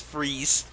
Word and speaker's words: Fries: our i yeah yeah his name is spelled fries but it's fries okay I'm sorry no it's